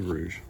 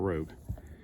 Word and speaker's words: Rouge: with you and I thought her name was Rouge well it is Rouge huh for some reason when I looked it up online it said Rogue which is just one like if somebody can't spell it's just one letter change like you just put the G where the U is so it is Rouge not Rogue and we got a